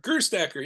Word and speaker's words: Gerstacker: Did I pronounce that right, Tim? You Gerstacker? did, yeah, Gerstacker, yes.